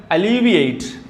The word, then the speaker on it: alleviate: അലീവിയേറ്റ്.